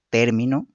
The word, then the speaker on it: término: El acento es un rasgo diferenciador de palabras que según la sílaba donde se sitúe origina cambios significativos a las palabras. Gracias a la presencia del acento en una u otra sílaba, producimos palabras con significados y funciones distintas.